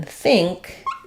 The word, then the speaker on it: think: NG sound and the k sound so in think you're going to have it with the the